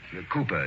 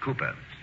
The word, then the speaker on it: Cowper: Hall William Cowper Cooper down hmm it is spelled Cowper but pronounced Cooper Charlie only just the